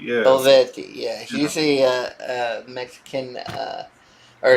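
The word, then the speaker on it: Olivetti: Olvetti, yeah. Olvetti, yeah.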